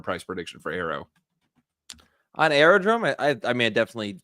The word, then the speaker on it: Aerodrome: I cover the first time we actually talked about aerodrome. Let me hit the skip ad. Boom. There we go. I actually mispronounced it, Josh. I said Aerodome.